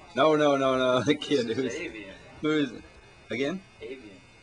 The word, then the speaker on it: Aveyen: This is aveyen. Who is it? Again? Aveyen. Aveyen. A-V-E-Y-E-N. Spell it with date of birth.